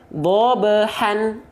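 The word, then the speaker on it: ضبحا: Maka hak kecil di sini seharusnya kita baca bobehan. Kalau kita bahas basic, betul nggak? Bahas basicnya dulu. Dibaca dengan vokal an, betul nggak? Bobehan wal 'adiyati bobehan. Pakai n, han, karena basicnya seperti itu.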